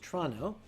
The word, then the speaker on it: Toronto: Last week's stream, which took place in Toronto, Canada, which, as we all know, has 2 syllables, Toronto, I wouldn't say we got through without problems.